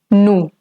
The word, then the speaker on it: nous: And the formal way, or in the written form, we usually tend to use nous. Nous. The S over here in N-O-U-S is going to stay silent.